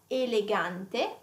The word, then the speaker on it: elegante: E can have two sounds here as well. So can have like a closed E, like elegante, elegant, elegant.